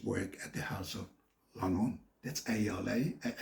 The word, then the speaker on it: Lanvin: at the House of Lanvin. That's Alanvin. Pronounce it like a French word, not like an English word.